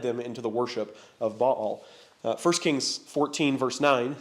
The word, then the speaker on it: Baal: the Canaanite god Baal Baal ba a apostrophe a l two syllables uh here's a couple